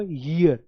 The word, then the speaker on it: year: आ रही है ना, लेकिन इसकी जो सही प्रोनाउंसिएशन है वो ईयर।